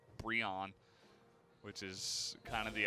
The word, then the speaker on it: BRION: I keep trying to call him Brian, which is just not. It's not a combination. It's just a mispronunciation of BRION, which is kind of the opposite, I suppose.